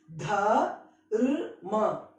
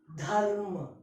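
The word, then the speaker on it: धर्म: It is not ra, it is ir. So how do you pronounce this? Dharma. Dharma. Dharma.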